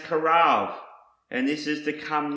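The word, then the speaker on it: קרב: The next word I want to show you is pronounced karav, and this is to come near, approach, to draw near, enter into.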